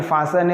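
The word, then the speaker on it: fasten: चलिए अब ये फासन है, तो इसमें टी साइलेंट निशान लगा दिया, ये फास्टर नहीं है, फासन है।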